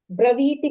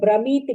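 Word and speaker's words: ब्रवीति: Braviti me, you recited Brahmiti me. Again you corrected Braviti me. Va pronunciation corrected.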